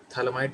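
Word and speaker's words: phthalimide: ठीक है, तो गैब्रियल थैलामाइड रिएक्शन, यहाँ पे पी साइलेंट होता है, यहाँ पे इस पी साइलेंट होता है, तो Gabriel थैलामाइड synthesis of primary amine.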